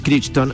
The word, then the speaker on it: Crichton: una novela programar para que el jurásico michael crichton así se pronuncia no sabía que muchos de nosotros con